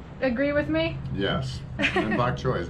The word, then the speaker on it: bok choy: And bok choy is not that hard to pronounce. Bok choy. Bok choy. I thought you were going to say butt choy.